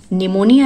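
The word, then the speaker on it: pneumonia: जैसे साइकोलॉजी है तो पी साइलेंट है, साइकेटिस्ट है पी साइलेंट है, निमोनिया है तो पी साइलेंट है।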